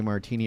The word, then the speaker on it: Martini: My name is Martini. It rhymes with the drink.